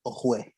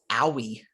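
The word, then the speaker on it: Oweh: They're going the edge rusher out of Penn State, Jason Owe. I think it's actually pronounced Owie.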